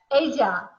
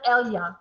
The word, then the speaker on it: ella: el, Ella. ella, Ella. ella, ella, So a double L is kind of like a Y. Ella. ella, ella, ella, Yeah, it's not Elia, it's ella.